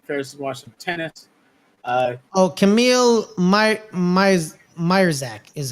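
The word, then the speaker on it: Majchrzak: Camille Myerzak is how it's pronounced.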